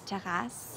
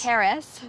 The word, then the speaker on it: terrasse: And now we basically share a terrasse. Yeah. I have to pronounce it like that in Montreal. A terrasse. Terrace.